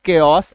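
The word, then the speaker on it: chaos: Country से जुड़ा हुआ शब्द में सी एच का उपयोग होता है और उसका उच्चारण भी क होता है। जैसे सी एच ए ओ एस केओस इसको याद रखिए।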